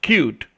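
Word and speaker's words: Qt: computer the first one pronounced cute but named with only two letters only is a multi-platform language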